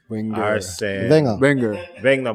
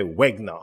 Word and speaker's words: Wenger: Wenger, but they'll say Wegner or something like that, right? Just completely mispronounce the name because they're just not necessarily familiar with the term.